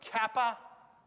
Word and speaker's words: kappa: their english counterparts right so kappa makes exactly the same k sound that the english letter k does lambda makes an l